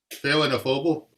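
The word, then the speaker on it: Féile an Phobail: it pronounced? Phelanophoble.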